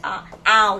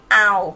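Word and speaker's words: เอา: And you want to order, and you see the menu, you say, ow. You use the word ow, mid tone.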